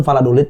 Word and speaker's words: Valladolid: Valladolid dan bermain di Champions musim Iya, ini juga iya, kan. iya, iya. Mereka bisa juga untuk menguasai semuanya gitu. Maaf. Aduh. Apa? Beneran itu Valladolid bacanya.